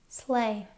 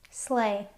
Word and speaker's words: sleigh: Slay. Sleigh.